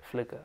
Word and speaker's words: FLCKR: And then that's when now, today present, it's spelled FLCKR. Yeah. Flickr.